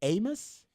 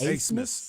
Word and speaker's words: Asmus: Is it Amos? Yes, Asmus. Asmus.